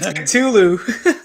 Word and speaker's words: Cthulhu: Oh, it's Cthulhu.